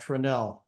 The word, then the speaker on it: Tranel: they're telling me that in Montana they pronounced that tranel so anyway um not